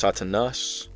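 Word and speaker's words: Σατανᾶς: All right, pronounced Satanas.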